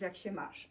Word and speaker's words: jak się masz: The one that you of course know is jak się masz.